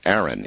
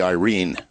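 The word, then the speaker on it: Airyn: my way of thinking, Aaron. It's A-I-R-Y-N, Aaron. But actually, correctly pronounced, as it would be read by a Filipino, would be Irene.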